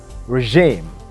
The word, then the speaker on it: regime: listen to the queen she said regime regime that's the correct pronunciation that's the bbc standard pronunciation of that word christmas can be hard